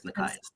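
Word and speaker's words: Nekias: Yeah, Ron calls him Nekus, and it's like, no, Ron, it's Nikias.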